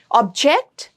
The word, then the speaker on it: object: Object. I object to your saying this. Second syllable gets a stress.